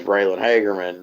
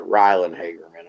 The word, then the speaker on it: Raylan Hagerman: Like, my son is Raylan Hagerman. They called it Rylan Hagerman.